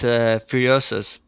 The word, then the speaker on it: Furiosus: Actually, it's Furiosus, but Furiosus. I'm okay with Furious.